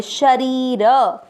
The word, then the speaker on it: शरीर: तीसरा चरण देखेंगे, श में अमिक्स करेंगे, री की मात्रा बड़ी लंबा खींचेंगे और र में अमिक्स करेंगे शरीर।